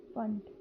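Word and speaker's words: Pfund: After that, the last scientist was, his name was Funt. Yeah, basically P is silent, so we used to you call them Funt.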